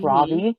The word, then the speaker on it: Ravi: By the way, it's Ravi. Ravi, there you go. Yeah. And the only reason I know that is because I listened to the audiobook and that's how they pronounced it.